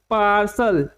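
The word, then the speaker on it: partial: 100 निकल लेंगे तो इसका उच्चारण क्या होगा पार्सल पार्सल इसका उच्चारण होगा जिसका हिंदी मतलब होता है आंशिक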